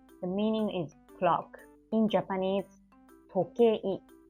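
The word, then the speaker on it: 時計: In Japanese, tokei, tokei. So this is kei and I. It's a repeated vowel.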